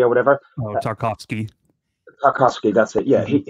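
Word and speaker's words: Tarkowski: How do you pronounce the other centre half's name? Tryski or whatever? Tarkovsky.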